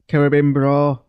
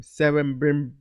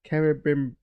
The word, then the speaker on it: Celebrimbor: Celebrimbor. Carabim. It's not. Well, the reason is I'm doing it wrong is because I'm saying certain, not care. Celebrimbor.